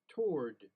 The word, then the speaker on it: toward: toward awah and a w toward without awah toward without a w toward. And that's how I like to pronounce it because it's the easiest pronunciation.